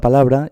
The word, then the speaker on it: palabra: Por ejemplo, palabra, pues aquí tenemos que la sílaba tónica será la sílaba la, porque no decimos palabra, ni decimos palabra, ¿verdad que no?